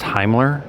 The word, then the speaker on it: Himmler: First of all, it's pronounced Himmler, as in the Heimlich maneuver.